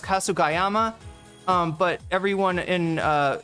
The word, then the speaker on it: Kasugayama: of it while uh you know, cuz it's Kasu Gayyama that it's actually pronounced Kasugayama.